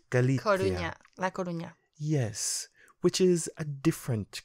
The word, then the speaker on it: La Coruña: La Coruña.